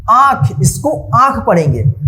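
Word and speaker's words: आँख: देखिए यहाँ पे आंख, इसको आंख पढ़ेंगे। चंद्रबिंदु का जो उच्चारण है ना मुंह और नाक की मदद से जो है ना इसका उच्चारण होता है आंख, आंख।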